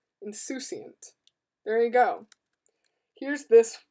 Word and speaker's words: insouciant: Really? Like soup? Oh, insouciant. Okay, not soup. There's no P. Insouciant.